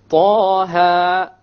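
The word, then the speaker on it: طه: Okay, both of them are two harakas long. So we pronounce it Taha, Taha. If we were to make it longer, it's a mistake. Ta or Taha, mistake. Each one has to be two harakas.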